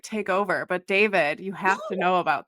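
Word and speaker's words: D4vd: David, it's spelled D4 VD.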